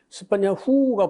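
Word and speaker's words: צְפַנְיָהוּ: 그 히브리 밑에 이거 읽으면요, 스파냐후가 붙어 있어요.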